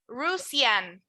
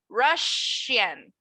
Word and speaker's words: Russian: Whenever you see this, like a double S, you're not going to pronounce it like S. You're going to pronounce it like sh. So we're not going to say Russian.